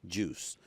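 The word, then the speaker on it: 7UICE: a foundation called juice it's the number seven UI but it's pronounced juice talk about that for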